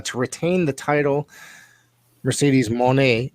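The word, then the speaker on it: Moné: retain the title Mercedes Monet no uh Monet is how she wants to pronounce I've heard so she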